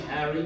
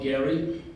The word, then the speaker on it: Garry: some of the papers gave my name as Harry with H, not Gary, because the Russian letter, can be either one, and the soft H is more common. But my parents had wanted the hard G sound, and it was probably for the best.